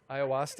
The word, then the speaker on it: ayahuasca: you have a crazy hallucinogenic trip you yeah ayahuasca okay there is the pronunciation from our Iowa expert so all of